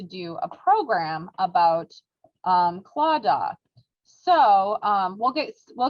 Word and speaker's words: Claddagh: the word clauda which it looks like it would be pronounced like claddagh it's actually clawda um is gaelic and